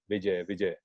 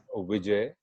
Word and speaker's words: Vijay: pronunciation, as I said, V is always pronounced V. Vijay. It's not Vijay. Ver is W. All the W's of the world are pronounced as ver, and the V is pronounced as V.